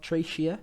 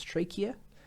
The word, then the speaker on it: trachea: the trachea all right the trachea is not tracier it's trachea okay another more easy to